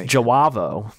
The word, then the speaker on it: Javo: I'm like, oh, you pronounce it with the J. Okay. It's Javo, apparently.